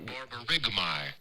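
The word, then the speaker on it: borborygmi: No, this is a great one because he's saying like Borburigmi. Borburigmi, okay? It's spelled Borburygmi. It's kind of But then the sound like is Borburigmahy.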